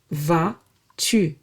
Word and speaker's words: vas-tu: You can also ask how are you differently by saying comment vas-tu? Comment vas-tu? Comment, how, vas-tu, are you. Tu is you. And yes, this va, where the final S is silent, is the same va we've seen in ça va.